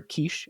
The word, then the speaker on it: Kiss: stay for Long hey kiss is handsome or Kish and I pronounce it correctly is handsome he's smart